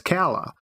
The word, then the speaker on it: Calla: audiobook because I wanted to know how to pronounce it. And at the beginning of the book, the narrator says Calla.